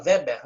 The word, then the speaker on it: Weber: Este aqui, este sociólogo aqui, ele se chama Weber, Max Weber. Tem gente que fala Weber, né? A pronúncia eu deixo por conta suas aí. Weber ou Weber.